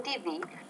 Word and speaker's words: TV: Okay, TV, pronounce the T with a little bit more air. Be careful about that sound, because if you don't, Adriana, it can almost sound like a D consonant sound, and you don't want